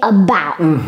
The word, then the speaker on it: about: Un choix, c'est une syllabe qui n'a pas de direction. Ça ne fait pas A, ça ne fait pas E, ça ne fait pas E, donc ne dites pas about. C'est about. About.